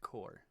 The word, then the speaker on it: Corps: pronounced core.